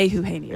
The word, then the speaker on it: Eugenio: Yeah, Eugenio.